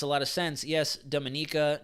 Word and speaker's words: Dominica: lot of sense yes Dominica not Dominica but love that you pronounce our name correctly most Americans say Antigua